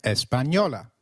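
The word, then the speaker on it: española: Espana and the people are called espanol and Espanola can you try that espanol and Espanola similarly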